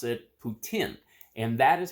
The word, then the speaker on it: poutine: hear him pronounce it Putin and that is how it is it is pronounced in uh Canada uh here in the United States we say poutine what this boils down